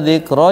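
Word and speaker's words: ذكرى: Ra apa ra ya bacanya? Dzalika dzikra ya, apa dzikra? Dzikra. Berarti yang kayak ya itu alif namanya.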